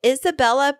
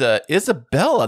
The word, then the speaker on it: Isabella: It's Isabella, not Isabel. I mean, I feel like that extra syllable is a lot to ask of people, so I'm pretty neutral about it.